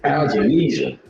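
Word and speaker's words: Avanesyan: David, how you pronounce his name? Avanesian.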